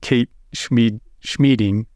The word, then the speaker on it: Schmieding: One is there was a woman who worked for Office of General Services, Media Services in New York, Kate Schmieding, rhymes with meeting.